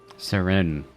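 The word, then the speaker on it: Sirène: Seren. That's how you pronounce it.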